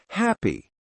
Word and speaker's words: happy: Happy, not happy.